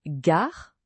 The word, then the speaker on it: gare: Et n'oubliez pas le R français dans Gar. Ce n'est pas un Roulé comme en espagnol ou un R anglais. C'est comment l'expliquer ? C'est un son qui vient de la gorge comme si vous gargarisiez légèrement. Essayez de dire gare en gardant la langue en bas sans la faire vibrer.